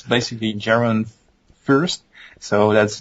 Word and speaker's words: Jeroen Furst: can follow me on Twitter it's hard to pronounce my name and for you to write it down but it's basically Geron first so that's j e r o e n